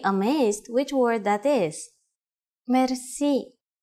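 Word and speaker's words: мерси: which word that is merci merci merci is a loan word from french but it is pronounced with the typical bulgarian heart are it is used mainly in informal situations merci how do you answer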